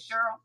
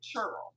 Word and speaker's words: Cheryl: and she pronounces it chur. So I want to say say it again. How did you say it? She pronounces it I have someone else in my life who pronounces it chur. Like chuck.